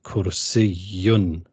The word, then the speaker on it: كرسي: كرسي. There's a shadda on the ya, which makes it كرسي.